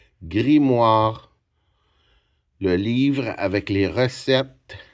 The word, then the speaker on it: grimoire: M m m wa. Qu'est-ce qu'il fait les son ? Les voyelles O et I. Grimoire R E. Grimoire.